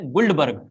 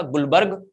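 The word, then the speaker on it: Guldberg: ऐसे तो नाम है गुल्डबर्ग, ऐसे नाम है, लेकिन डी साइलेंट रखना है, डी साइलेंट रखना है। तो नाम है एक साइंटिस्ट का गुलबर्ग और दूसरे साइंटिस्ट का नाम है वागे।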